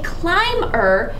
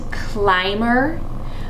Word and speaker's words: climber: is someone who climbs do you notice that in design and climber both of these have syllables that would appear that they should be short but the vowel is actually long this is the design